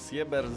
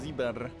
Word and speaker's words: Sieber: I w dolnym prawym rogu niemiecki Showtime, czyli Tobias Sieber. To tak się czytało jego nazwisko. Sieber, Sieber. Co kraj, to inna oczywiście wymowa.